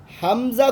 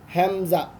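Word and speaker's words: همزة: حمزہ کو لوگ سمپل کر کے پڑھتے ہیں، حمزہ، ایسے نہیں، حمزہ حمزہ. تھوڑا سا اس کو ڈاؤن کر کے پھر اس کو پیچھے کی طرف مڑنا، حمزہ.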